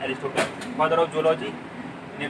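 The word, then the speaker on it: Aristotle: अरस्तु, या जिसे जिन्हें हम इंग्लिश में उनका उच्चारण होता है एरिस्टोटल, फादर ऑफ जूलॉजी इन्हें भी अरस्तु बोलेंगे।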